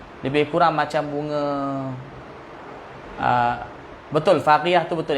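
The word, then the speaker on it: فاغية: Lebih kurang macam bunga betul, faghiyah tu betul ejaannya begitu. Faghiyah. Kalau Arab fa alif ghin ya ta marbutah.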